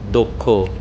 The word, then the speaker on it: দক্ষ: দক্ষ। এর উচ্চারণ হবে দক্ষ। কারণ দ ব্যঞ্জন বর্ণের সাথে উচ্চারিত অস্রবর্ণের পর ক ও মূর্ধনস এর সংযোগে গঠিত যুক্ত বর্ণ রয়েছে।